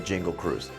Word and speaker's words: Jingle Cruise: Oh, and don't forget to go on the Jingle Cruise. No, I didn't mispronounce that. It is Jingle, not Jungle.